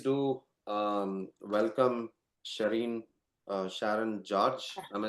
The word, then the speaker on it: Sharon George: Um so guys uh please do um welcome Shireen uh Sharon George.